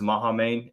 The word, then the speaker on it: Mahamane: I think it's Mahamane is how you say his first name.